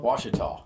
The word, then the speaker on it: Washita: And is that how you pronounce it, Washita? Washita.